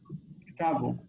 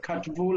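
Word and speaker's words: כתבו: Ktavu. And that's how we should Tav. pronounce it. Instead of katvu like in Hebrew, it's ktavu.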